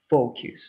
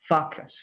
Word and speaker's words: focus: the word that the guy understood instead of focus who can tell me that can you repeat